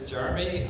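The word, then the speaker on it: Jeruhmi: hey everyone what's up my name is jeremy uh it's spelled j-e-r-u-h-m-i so i do a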